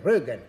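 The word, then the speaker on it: Georgescu-Roegen: Georgescu Rogen e disse: no, si legge alla tedesca, si legge Rögen, come se fosse un umlaut.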